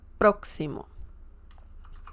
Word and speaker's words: próximo: You have the emphasis on the first syllable, próximo.